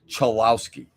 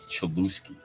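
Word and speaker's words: Cholowsky: The problem is when a league wants to showcase its talent, it should at least properly pronounce the names of their future stars. Rock Chalowski of UCLA was the first overall pick by Chicago.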